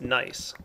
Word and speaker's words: gneiss: And you'll see that this isn't regular cobblestone, it's gneiss cobblestone. I think that's pronounced nice.